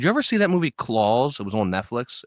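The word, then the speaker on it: Klaus: It's just called like claws. I don't think so. I remember I remember hearing about this. I don't think I saw it though. What is this movie? It's spelled K L A U S.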